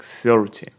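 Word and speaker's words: thirty: ending tin like this most of the stress goes to the end so you say 13 and in 10 numbers you put the stress on the first syllable like 30. it sounds differently 13 and 30.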